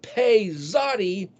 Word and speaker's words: pei zadi: And then so pei zadi, pronounced pizza, literally means open mouth.